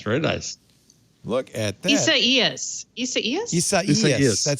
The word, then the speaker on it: Isaias: It's the Isaias. third syllable has the emphasis. Isaias.